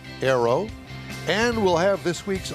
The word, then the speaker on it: Ayro: Well, did I pronounce it right, Ayro? You did. It's spelled a little odd with A Y R O, but it is pronounced Ayro.